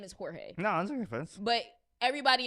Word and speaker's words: Jorge: work next to George but his name is Jorge no I'm offense but everybody in the job